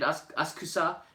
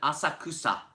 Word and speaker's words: Asakusa: Amanda, since you visited Asakusa, you have to say it right. Although, the city of Tokyo calls it Asakusa. That's not me, that's the city of Tokyo, because it's on the subway announcements.